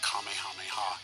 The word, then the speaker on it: Kamehameha: Some have pronounced it as Kamehameha or Kamehameha, and others have said Kamehameha.